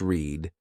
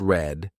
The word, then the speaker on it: read: For example, why are read pronounced read and read pronounced red?